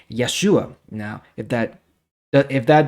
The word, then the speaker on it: Yeshua: Canaan now it's interesting the Hebrew pronunciation of the name Joshua is actually Yeshua now that sounds a